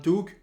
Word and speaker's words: toque: or something yeah yeah toque is the French term and T in fren in like one Tu in fact let me tell you that that's how we pronounce it in French but yeah it's pretty